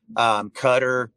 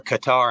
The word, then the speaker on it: Qatar: Turkey and South Korea, Qatar, or Qatar. I don't know how you say it. I know it's Cutter.